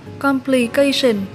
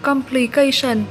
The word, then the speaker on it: complication: Mình xin đọc lại là complication. Ngoài ra thì nếu như các bạn đọc từ này là complication thì cũng đúng nha. Và hai cách đọc này thì chúng ta đều nhấn ở âm 3 nhé.